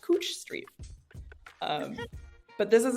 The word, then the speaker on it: Couch Street: all right and then Couch Street and it's like it should be easy but it is not um this is a Street in Portland and it's actually pronounced cooch Street um but this is